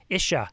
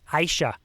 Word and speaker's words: ISHA: to iowa uh the isha conference no no sorry i said it wrong aisha they had corrected me